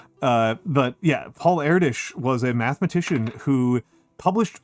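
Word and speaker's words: Erdős: with a name like Eritish, uh, with like the weird like double carrots over the O, uh, which somehow changes the way the S is pronounced because Hungarian. Uh, but yeah, Paul Erdish was a mathematician who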